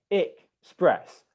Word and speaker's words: express: It's not actually pronounced it's not an S sound. It's I. So it's express.